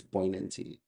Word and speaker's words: poignancy: It's poignancy. G is silent in case you don't know.